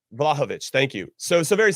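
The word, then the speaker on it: Vlahović: uh doosan vlahovic uh is that how you say it i think i was going to put the emphasis on it right yeah yeah vlahovich thank you so so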